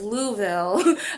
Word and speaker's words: Louisville: next program um now my friends have told me that this is pronounced University of Louisville um so the representatives